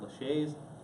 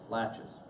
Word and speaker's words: laches: looks like Lacs but it's pronounced latch it's not Lachey's laches and this doctrine basically